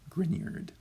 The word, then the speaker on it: Grignard: So the second G there in front of the N is pronounced like a Y coming after it. So really that's pronounced more like this, Grignard.